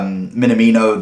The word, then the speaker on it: Minamino: We got Minamino there.